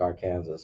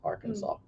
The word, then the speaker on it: Arkansas: carolina wyoming arkansas is pronounced it looks like arkansas but it's pronounced arkansas how many deaths does it have per arkansas